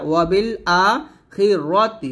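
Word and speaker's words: وَبِالْآخِرَةِ: তি ওয়া বিল আখিরাতি খি রা বলবেন না র বলবেন দেখেন বাংলাটা ওয়া বিল আখিরাতি র হবে ওয়া বিল আখিরাতি হা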